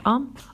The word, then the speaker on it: homme: Elle peut être au début d'un mot, exemple homme, ou à la fin du mot, exemple renard. Alors dans ces 2 mots, on trouve la lettre H et la lettre D. On les voit à l'écrit, mais on ne les prononce pas à l'oral.